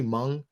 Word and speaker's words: Hmong: I pronounced it wrong is it simply Hmong is that how you pronounce it yeah the H is always throws me and I'm like I